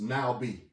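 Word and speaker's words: נביא: the masculine noun pronounced now be. We spell it N-A-V-I, transliterally, or N-A-B-I, because from that Hebrew, that B is pronounced or enunciated, that V rather, as a B.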